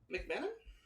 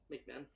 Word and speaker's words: McMahon: You don't really say it as 3 syllables. You say it as 2 syllables.